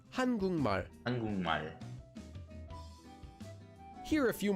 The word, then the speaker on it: 한국말: Here we have the syllable kuk, which ends in the consonant kiok. And the next syllable after that, 발, starts with the consonant mium. So we change the sound of the kiok at the bottom of kuk into an iang, and that syllable becomes kung. So together we get 한국말, or read quickly, 한국말.